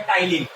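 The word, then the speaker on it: ptyalin: P normally आपका silent होता है और इसे हम लोग टिन टलीन लिखते हैं और टाइलीन पढ़ते हैं।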